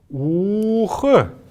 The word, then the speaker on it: ух: Когда мы произносим эти слова, не надо говорить у-ух или су-ух. Надо говорить сух, ух, долго протягивая их, поэтому они икшик, то есть такие мелодичные, протяжные, красивые очень.